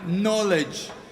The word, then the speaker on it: knowledge: which are actually silent for example in knowledge K is silent in Island s is